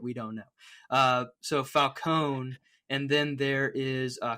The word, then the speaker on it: Falcone: Is it is it pronounced Falconee or Falcone in this one? Because one of the other one the Batman I think says Falcone, right? Falcone. Okay. Yes. And this one is Falcone.